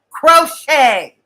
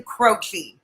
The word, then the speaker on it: Croce: It's pronounced crochet. Crochet. Think the old singer Jim Croce.